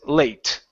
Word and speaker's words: late: Right here, the E at the very end is silent. So instead of saying late, okay, the word is late.